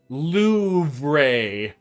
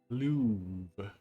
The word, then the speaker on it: Louvre: Do you pronounce the R? I feel like the R kind of happens. Louvre.